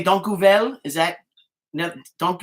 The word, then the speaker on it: dank je wel: Okay, and I could say dank u wel. Is that no, dank u wel? How do you say thank you Sorry? in how do you say thank you in Dutch? Oh, dankjewel.